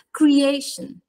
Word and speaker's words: creation: differenza è veramente drammatica Creation Creation dolore Creation quella a è molto più lunga della lo che noi pronunciamo in italiano ed estremamente più lunga soprattutto in rapporto in proporzione rispetto all'ultima sillaba che è sostanzi mente una sillaba accennata Creation Creation purtroppo di